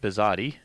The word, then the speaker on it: Bisade: are getting to know bizat welcome bizat hello hello thanks for having me and I'm saying your name correctly right bizat yeah okay and that's spelled b